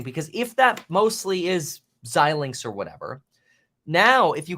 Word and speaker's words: Xilinx: earnings report xilinx is how you say it xilinx who cares it's a stupid name it's AMD now but anyway um that's interesting to me that's really interesting because if that mostly is xilinx or whatever now if you came over here